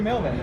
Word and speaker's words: Melbourne: She taught me how to say Melbourne.